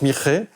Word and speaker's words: Mixe: ans parmi une population amérindienne du Mexique, les Mixe. Ça s'écrit mix, mais ça se prononce Mixe, et qui vivent dans des populations villageoises, paysannes, centrées sur la culture du maïs.